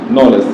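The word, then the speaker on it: knowledge: লিখি দেখ কে এন ও ডবলিউ এল ইডি নলেজ কি লিখি আমরা নলেজ কি লিখি এখানে নলেজ দেখো তাহলে কি কের উচ্চারণ হইছে সাধারণত কের উচ্চারণ বাংলা বর্ণ ক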